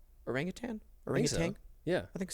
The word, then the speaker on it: orangutan: There's no G at the end. That's the thing people always mess up, right? Like they say like tang. Oh, orangutan. Yeah. It's not tang. Right? It's not, I don't think it's tang.